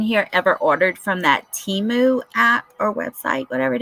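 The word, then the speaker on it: Temu: has anyone in here ever ordered from that Teemu app or website whatever it is you ever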